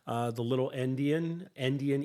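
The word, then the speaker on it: endian: years ago we called it Indian but it's pronounced Indian e n d i a n um and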